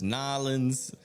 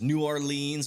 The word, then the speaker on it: New Orleans: There's Nollins, there's Orleans, there's uh there's New Orleans, which apparently is the stupidest way to say it, which is how I used to say it.